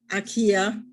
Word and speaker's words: Akiya: With us today is Matt Ketchum, co-founder of Akiya and Inaka, a Japanese company specializing in helping foreigners purchase abandoned or semi-abandoned homes in Japan. Hello, Matt. I hope I pronounced that, not your name, but Akiya the right way.